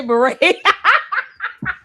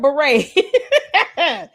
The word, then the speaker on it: beret: She She figured out how to say beret. And this kick rocks. She finally learned how to say the word beret. Cuz I was definitely expecting her to say bere.